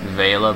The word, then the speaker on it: Vela: Vila. I also heard her name pronounced Vela, but I prefer Vila.